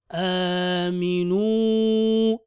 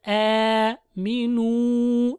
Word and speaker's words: آمنوا: Wala killa killa wala killa yash'urun ayn yash'urun wa idha qila lahum aminu a Hamza with the small alif on top is extended. Aminu.